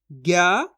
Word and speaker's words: ज्ञ: इसके बाद ज्ञा से ज्ञानी, ज्ञानवान, कैसे करेंगे, ज्ञानी बोलो ज्ञानी, ज्ञानवान बोलो तो इसका उच्चारण आ जाएगा ज्ञा का।